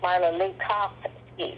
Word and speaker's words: Marla Lukofsky: And I said, "Marla Lucki." Mara Lucski.